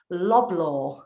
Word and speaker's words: Loblaw: Canada's largest retail organizations, Loblaw. Have I pronounced that one correctly? Yeah, it's Loblaw Companies Limited.